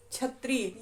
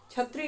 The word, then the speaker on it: क्षत्रिय: क्षत्रिय, यह जाति है, तो बोलते हैं कि हम लोग क्षत्रिय हैं, क्षत्रिय नहीं क्षत्रिय। उच्चारण बदल जाते हैं।